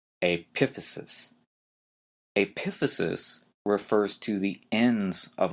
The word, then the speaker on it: epiphysis: y s i s again notice the stress is in an odd place the second syllable aphesis epiphysis refers to the ends